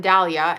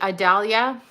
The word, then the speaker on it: Adalia: And so he met this other woman, Dahlia, and it's actually Adalia. I never say it right, but nonetheless.